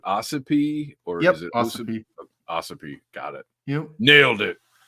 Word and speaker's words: Ossipee: How is that pronounced? Is it Ossipee or is it Ossipee? Ossipee.